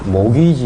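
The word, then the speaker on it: mortgage: 그래서 축대 체다 그냥 툴에서 지금 당 영어로는 모기지 이라고 하네요 목이 일은 오늘 들어 보셨을 때 i ate 넣는 겁니까 발음 하지만 데서 뭐 t 를 빼고 들으면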